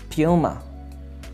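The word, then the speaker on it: Puma: अगला जो हमारे पास ब्रांड नेम है वो है प्यूमा। प्यूमा, ये पुमा लफ्ज़ नहीं है बल्कि प्यूमा, प्यूमा।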